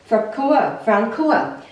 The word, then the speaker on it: Francoa: And you pronounce this as Francoa.